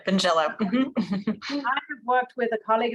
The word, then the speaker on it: Vingiello: to say it wrong binge yellow did I get that right yes you did benjello I've worked with a